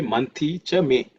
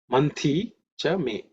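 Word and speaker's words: मन्थी च मे: Manthi Chame. Manthi Chame. In terms of pronunciation, the Tha is aspirated because it's the second letter in the Tha Varga. So pay attention to that. So it's Manthi Chame.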